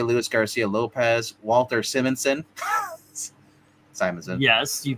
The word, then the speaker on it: Simonson: Simonson. Yes, you pronounced it right for the first time ever.